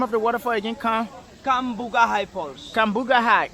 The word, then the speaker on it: Cambugahay Falls: How do you pronounce the name of the waterfall again? Cambugahay Falls. Cambugahay Falls.